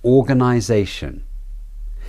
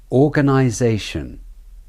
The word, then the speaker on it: organization: next word is organization keep trying to hear the stressed and de-stressed syllables organization organization the or I and Zay are the stressed syllables you can hear the vowels clearly the Zay is the main stressed syllable the gun and shun syllables are the de-stressed syllables organization the rhythm is da da da da da let's do